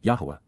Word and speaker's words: Yahowah: manner, to, La, for, Yahowah, the proper pronunciation of the name of Eloah, God as directed in